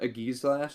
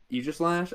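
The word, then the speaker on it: Aegislash: I recently tried playing with a Gizlash. A giash Eegislash. Egislash.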